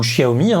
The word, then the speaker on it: Xiaomi: Et s'il fallait se convaincre que les produits Xiaomi intéressent, ou Xiaomi, pour ceux qui veulent le prononcer à la chinoise, eh bien la 2e